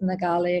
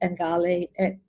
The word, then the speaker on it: Ngali: First of all, Ngali can be pronounced in a number of different ways. It can be pronounced Ngali, it can be pronounced Ngali. In some indigenous languages, it would also be pronounced as Gali.